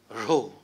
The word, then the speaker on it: rho: Rho. This is how it is pronounced, rho.